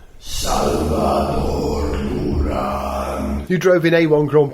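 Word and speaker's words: Salvador Durán: Salvador Duran.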